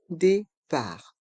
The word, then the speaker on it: départ: Les horaires d'arrivée et de départ. Le E et le T se prononcent et. Le T du mot départ est muet.